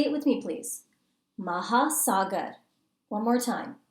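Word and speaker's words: महासागर: words for ocean mountain and grass ocean is maha sagar say it with me please maha sagar one more time maha sagar is ocean mountain is bahar bahar is mountain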